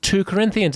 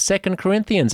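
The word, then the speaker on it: 2 Corinthians: Bible two Corinthians it's not as it's not pronounced two Corinthians it's second Corinthians even even if you just went to went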